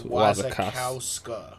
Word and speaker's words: Wasikowska: Nah, it's not an extra ska. It's Wazakowska. It's Wazakowska. Ladies and gentlemen, there's no two kakas. Kaka. Like no, it's just Wazakowska. Anyway, the bitch from Alice in Wonderland and Stoker.